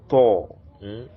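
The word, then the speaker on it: طاء: So we form a circle, sword, Thor. So a circle is being formed, Thor, Thor, as in tortoise, tortoise, Thor.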